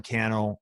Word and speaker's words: Cannell: And then I'm everywhere on social at Sean Cannell, rhymes with YouTube channel.